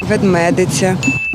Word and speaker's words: ведмедиця: наголосом буде трошки простіше бо вимовляється воно як Ведмедиця ведмедиця ведмедиця Я думаю ведмедиця і ведмедиця і навіть ведмедиця правильні варіанти незвично правда ж але